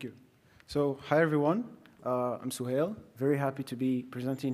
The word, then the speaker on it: Suhail: Suhail.